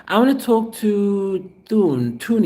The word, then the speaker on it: Thune: I want to talk to Thune. I want to call you Thune, but it's spelled Thune. JohnThune.